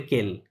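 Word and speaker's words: quel: শোন, এটা এই আচ্ছা, এই 4টা যে দেখতে পাচ্ছেন, এই 4টার সাউন্ড সেম, প্রোনাউন্সিয়েশন সেম, এই 4টাকেই বলে কেল। কি বলে? কেল, কেল। রাইট। এই 4টাই কেল, মানে প্রোনাউন্সিয়েশনের কোনো ডিফারেন্স নাই, বাট লেখার ক্ষেত্রে জাস্ট ডিফারেন্সটা দেখতে পাচ্ছেন, হ্যাঁ।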